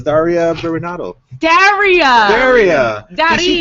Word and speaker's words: Daria Berenato: Wait, no, it's Daria Berenato.